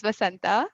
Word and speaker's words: Vasanta: This is Vasanta. Uh, That's how it's pronounced.